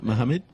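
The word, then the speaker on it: Mahamid: at if I'm pronouncing it correctly the surname is spelled m a h a m i d yeah Muhammad yep that's fine Y and the number six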